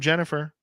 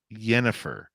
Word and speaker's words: Jennifer: This one from Jennifer. Pardon me, I said her name wrong. Yennefer. She prefers a silent J.